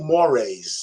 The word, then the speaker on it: mores: That little, when I put my little Cash App or your super chat up there, it was social mores. That's how you pronounce that word.